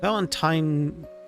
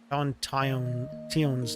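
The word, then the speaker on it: Valentione: hands that means valent Valentine valenton I forgot how they pronounce it valent it's not valentine Valen Ton's day is upon us once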